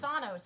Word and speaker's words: Thanos: greek i learned that thanos comes from the greek word thanatos death so then i change